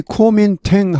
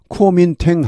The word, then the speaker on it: Kuomintang: 여기 Kuomintang 하면 발음이 뭐 몇 가지가 있는데 대체로 제가 보니까 Kuomintang 하는 것 같습니다. Kuomintang 하는 미국 사람도 많습니다. 많고 그 다음에 Kuomintang 하는 미국 사람도 있습니다. 중국 발음 어떻습니까? 구민당이죠. 중국, 구민당 이렇게 합니다.